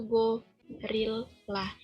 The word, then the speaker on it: gorilla: The word gorilla, behind it to go, rilla, is pronounced with a h intonation in the second syllable, so that the dictionary says gorilla.